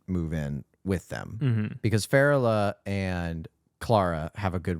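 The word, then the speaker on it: Férula: And then how are we pronouncing Glenn Close's character name? Farrella.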